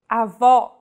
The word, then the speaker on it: avó: Vowels with the acute accent will be stressed and pronounced with open pronunciation. Avó.